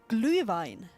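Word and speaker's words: Glühwein: is called but it's not that hard to pronounce it's called glue Vine in gline we have something similar in England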